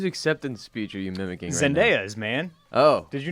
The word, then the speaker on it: Zendaya: zendaya zendaya that's how it's pronounced that is how it is pronounced not zendaya damon which i'm pretty sure